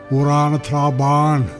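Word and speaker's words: Amhrán na Trá Báine: White Strand, or, well, in Gaelic, Irish, Urana Traban. That would be the right way to say the Gaelic language from Connemara.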